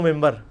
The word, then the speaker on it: منبر: ہوئی ہے، محراب و ممبر. ممبر کے سپیلنگ کیا ہے؟ منبر، لیکن پڑھا کیا جاتا ہے؟ کیوں؟ کیونکہ نون کے بعد، نون ساکن کے بعد با ہے.